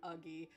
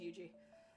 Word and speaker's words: Eugi: And then everybody kept calling her like Uggie. Um, everybody thinks it has like a hard G. And I think it's really funny. But yeah, no, it's just Eugi.